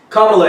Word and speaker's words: Kamala: Kamala Harris. There you go. I've been you know what? I've been saying the whole weekend Kamala Harris, and then I messed it up. My bad, y'all. Kamala Harris.